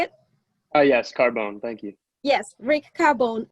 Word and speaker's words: Cardone: Yes, Cardone.